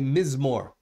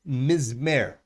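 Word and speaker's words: מזמור: I said, it's interesting that every psalm is called a mizmor. Those same letters, mizmor, can be pronounced mizmer.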